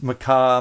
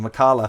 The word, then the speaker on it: Makala: this even though it's maka makala i keep saying it wrong which is why i keep checking makala it's made by carla